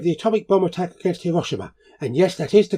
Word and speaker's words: Hiroshima: Today is the 80th anniversary of the atomic bomb attack against Hiroshima. And yes, that is the correct pronunciation.